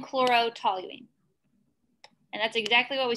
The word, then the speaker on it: toluene: Toluene.